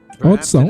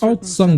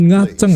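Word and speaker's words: Aocang: Outsang, oh namanya Mount Outsang bacanya. Aku sering bilang itu Mount Ngaceng anjir.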